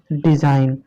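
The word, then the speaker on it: design: ठीक है, तो इसको क्या पढ़ेंगे, डिज़ाइन।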